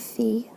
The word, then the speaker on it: Phi: three-fourths here I'm given that the sine of Phi that's how you pronounce that is 5 13.